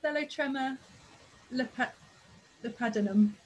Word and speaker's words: Thelotrema lepidinum: I think this is pronounced Thelotrema lepidinum.